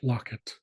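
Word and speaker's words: lakit: with an o or you might see L A either way it would be pronounced locket and that is four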